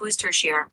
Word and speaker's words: Worcestershire: The recipe for Worcestershire sauce, pronounced Worcestershire or share, dates back to the early 19th century when the British Lord Sanders acquired it during travels.